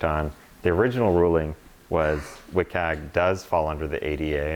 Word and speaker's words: WCAG: through the website so if that's not meeting wiag that's how you say it doesn't meet accessibility